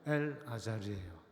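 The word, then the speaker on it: אלעזר: 우리가 더 많이 들은 이름으로는 엘르아살이죠. 엘르아살 많이 들어보셨죠? 아론의 아들 중에 한 명 엘르아살. 그거를 정확하게 발음하면 엘 아자르예요.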